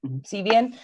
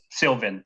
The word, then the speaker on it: Sylvan: Sevian. And then I get two more languages. Sorry, Sylvan.